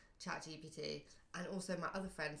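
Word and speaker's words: ChatGPT: Uh, GP Chat GPT GPT, but it's chat GPT. GPT. You you switch the B, the B, the P with the B.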